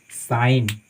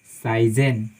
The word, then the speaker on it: sign: ठीक है, जैसे मानिए SIGN, इसको हम पढ़ते हैं साइन, नॉट साइजेन, हम इसको पढ़ते हैं साइन। यहाँ पे जी है सो बिल्कुल साइलेंट होती है, उसका उच्चारण हम नहीं करते हैं, है ना।